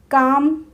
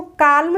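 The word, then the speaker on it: calm: L silent होता है सी ए एल एम काम काम बोलते हैं इसको काल्म नहीं बोलते हैं और अगर कोई काल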